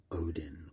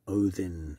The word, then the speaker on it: Odin: um especially lately is odin or odin as it's apparently more properly pronounced or wowed in the